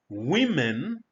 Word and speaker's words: women: The word women, which is the plural of woman, is pronounced as women in order to distinguish it from its singular form.